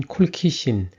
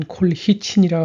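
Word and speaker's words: colchicine: 콜치 신에 대해 알아보겠습니다 뉴질랜드를 비롯한 영어권 국가에서는 콜치 신이라 발음하는데 한국에서는 콜키신 또는 콜히친이라 합니다 그런데 콜키신 약의 성분 명이며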